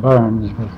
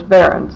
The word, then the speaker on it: Barends: i'm interviewing barrons yes did i pronounce that right yeah okay that should be most of them call it burns it's barons yes okay let's